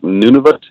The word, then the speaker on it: Nunavut: my caribou muskox hunts um on contour lake nunavut and that starts usually i'm up there by